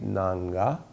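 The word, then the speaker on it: Ng'ang'a: research look at it Archbishop Harrison K nanga NG G Apostrophe a NG G Apostrophe a is how you say his name spell it he has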